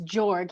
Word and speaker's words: Jorg: I think he's made it public that it's Jorg.